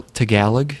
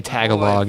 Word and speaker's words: Tagalog: what is this Tagalog it's pronounced L Tagalog please is it really yes don't say Tagalog in front of a Philippa knees person oh I'll try not